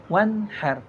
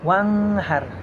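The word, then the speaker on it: وَانْحَرْ: Wanhar suara nunnya jel jelas tidak boleh diidgamkan seperti wanghar ya. Itu tidak boleh. Lafaz kalimat suara wanghar itu adalah salah ya, tetapi harus dibaca wanhar ya.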